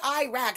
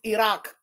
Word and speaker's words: Iraq: If you speak Arabic, how do you say Iraq? They don't say Iraq. It's Iraq. Okay?